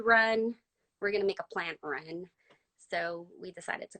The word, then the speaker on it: Plantrunz: Why the name Plant Runs? Did I pronounce it right?